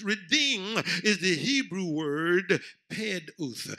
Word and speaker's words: peduth: Redeem is the Hebrew word peduth. It's spelled P-E-D-U-W-T-H, but it's pronounced P-E-D-O-O-T-H.